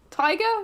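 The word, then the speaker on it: Tyger: Tiger? Tiger? Yeah, is it Tiger? Yeah, it is Tiger, but spelled with a Y instead of an I, because, you know, we're funky around here.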